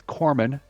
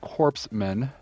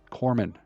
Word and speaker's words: corpsman: it's Corman that's not corpse men the Marine Corps Esprit de corps you don't pronounce the P or even the S it's like c-o-r-e pronounced like it's like apple core Corman Corman I need a medic